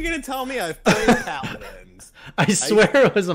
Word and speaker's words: Paladins: We got Paladins, which is interesting. I think that's is that a MOBA? It's actually pronounced Paladins.